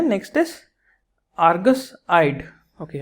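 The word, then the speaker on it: Argus-eyed: So first option is, अब इसको आर्ग्यूस पढ़ लीजिए, आर्गस पढ़ लीजिए. तो एक्चुअली तो आर्गस होता है इसका प्रोनाउंसिएशन, बट आर्ग्यूस भी पढ़ा जा सकता है, कोई इशू नहीं है.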